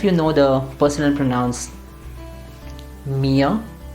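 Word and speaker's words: mir: know the personal pronouns mia you don't say meer you say mia similarly you don't say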